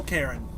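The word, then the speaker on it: Cairn: we're in the soul karen churn it's pronounced with it with a c-a-i-r-n and right now i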